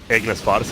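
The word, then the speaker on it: Ignis Fatuus: He's going blink for the Ignis Fatus. I don't even know if that's how you say it, by the way. Ignis Fatus, it is.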